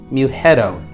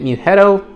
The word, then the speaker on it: Mughetto: video, and that is Velvet Muetto. That's how I'm going to pronounce it because to me, that's the best way to do it. Velvet Muetto.